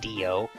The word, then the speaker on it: Dillo: There was Dio, which was spelled Dillo but pronounced Dio.